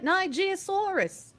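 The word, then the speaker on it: Nigersaurus: Oh, you know, you just pronounce it like Nigeria, the country. Nigerosaurus.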